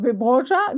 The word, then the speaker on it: Wyborcza: Gebert has distinguished himself as a journalist working for the Polish daily newspaper Gazeta Wyborcza. Is it Wyborcza?